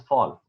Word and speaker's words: Voll: So Volsante actually is a German word, so it's pronounced as fall.